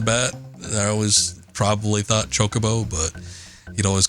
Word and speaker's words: Chocobo: One of my friends kept calling them cockaboos. I don't remember if I subscribed to that right off the bat. I always probably thought chocobo, but he'd always call them cockaboos.